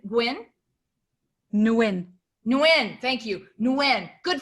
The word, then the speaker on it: Nguyen: ted's last name yeah uh you said gwyn nguyen nguyen thank you nguyen good for you nguyen